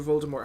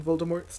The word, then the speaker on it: Voldemort: And I think it's really interesting when you break down Voldemort's name, because obviously J.K. Rowling has told us that his name is French, you know, and that it's pronounced more, not Voldemort. Mort.